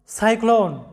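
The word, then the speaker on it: cyclone: তোমাদেরকে রুলসে বলা হয়েছে যে সি এর পরে ওয়াই, ই অথবা আই থাকলে সি এর উচ্চারণ হবে স, অন্য সব ক্ষেত্রে সি এর উচ্চারণটা করবে ক। তাই এখানে দ্বিতীয় সিলেবলে আমাদের সি এর উচ্চারণটা হবে ক, ক্লোন এরকম, ক্লোন, সাইক্লোন।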